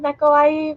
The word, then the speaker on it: Neko·Ai: Is that like Neko, Neko I? I guess my whole username is Neko I, but I you can say Neko.